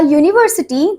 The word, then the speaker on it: university: Okay next thing Next thing, a university, the U in university is pronounced as Y-O-O, a consonant sound.